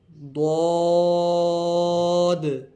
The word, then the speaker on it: ضاد: صاد، ضاد.